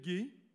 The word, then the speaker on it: Gay: J'invite maintenant Isabelle Gay à remettre la... On prononce bien le Gay parce que des fois, on se trompe entre Guy et Gay, fait que là, il faut faire attention.